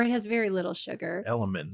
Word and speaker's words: LMNT: Element. Is that how it's pronounced? Element. That's right.